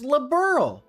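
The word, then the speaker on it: Liberl: See, and then she says labberl, which is which just just throwing it out there is the correct pronunciation.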